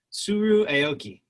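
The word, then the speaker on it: Tsuru Aoki: Help me pronounce her name again. Suru Aoki.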